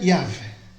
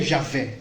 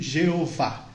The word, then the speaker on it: YHWH: YHWH, que se pronuncia Yahvé. Yahvé. Que, pra gente traduzindo assim, a gente falaria Javé, como a gente costuma falar. Mas também tem uma tradução errada que chama de Jeová.